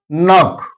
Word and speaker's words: knock: Then knock K is followed by N. So here K is silent.